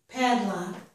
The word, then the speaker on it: padlock: stress on both syllables this one has stress only on the first syllable pot luck pot luck